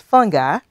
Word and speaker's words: fungi: So on this page, we have fungus, we have fungi, which can also be pronounced fungi, and we have mycology.